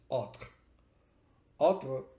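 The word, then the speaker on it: autre: comes from letting alter but it's written a u t r e means other in this case the A and the U represent a sound similar to an O so uh and then the T and the r the E basically is not pronounced or converts into a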